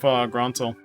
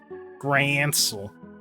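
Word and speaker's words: Grancel: Yeah, I wonder about this one with Gronsel. Because remember when I was playing in 2019 and I had no idea about how to pronounce it, I always say Gransel.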